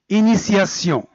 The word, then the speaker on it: initiation: Donc, on écrit T et on le prononce C. Prenons un exemple. Initiation.